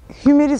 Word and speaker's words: Hymer: mıydı derken ilk öğrendiğimiz Hümer'di. Ama biz tabii Hümer olduğunu yaklaşık 2 aydır biliyoruz. Hymer deyip duruyorduk biz. Yani telaffuz öyle. İngilizce okuyup Alman firması Hymer. Hymer diye böyle bir de R'leri söylemezler onlar.